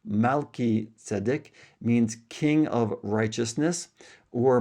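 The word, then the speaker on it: Melchizedek: Now the name Melkit Sedic um or actually it's pronounced Malit Sedic means king of righteousness or my righteous king.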